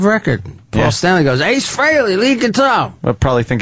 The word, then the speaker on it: Frehley: Frehley freely admits that Frehley is the proper pronunciation.